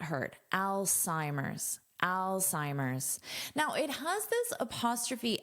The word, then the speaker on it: Alzheimer's: First, let's talk about the pronunciation of this word, Alzheimer's. So notice this beginning is pronounced like the name Al. Now this is pronounced as an S, Psi. And this H is not heard, Alzheimer's.